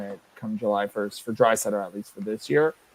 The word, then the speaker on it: Draisaitl: And Zylstra says the only way Draisaitl, not Drysdale as it's spelled, is if his new extension comes under 14 per.